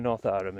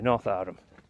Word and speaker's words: Northowram: Anyway, North Arham, or Northowram if you want to be. It's got a no in it, but local pronunciations.